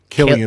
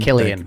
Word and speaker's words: Cillian: Killian. Killian.